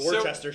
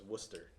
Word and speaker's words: Worcester: shire over it's a world chester show that's what we're going to call it from here on massachusetts is spelled like that but it's worcester so uh ronnie martin's